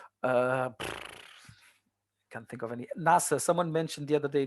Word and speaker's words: NASA: You don't pronounce NASA. You pronounce it as NASA.